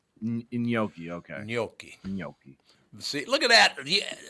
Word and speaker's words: gnocchi: gnocchi, which is I guess is wrong. It's gnocchi. Gnocchi. Okay. Gnocchi.